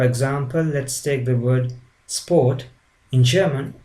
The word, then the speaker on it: Sport: For example, let's take the word sport. In German, it's the same letters, but the pronunciation is different. Sport. Instead of the sound S, it has sound sh, and the rest remains the same.